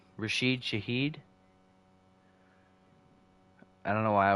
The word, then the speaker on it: Rashid Shaheed: Rashid Shaheed. I don't know why I was thinking it's Raheed Shashid. That's definitely not right. Rashid Shaheed, I believe, is it.